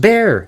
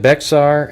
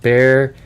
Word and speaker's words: Bexar: Almost was last seen at 658 on Wednesday after leaving her home in Northwest Bear County. Everybody, the X is silent.